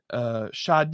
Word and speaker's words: Sade: Sade, I think is how she pronounces it.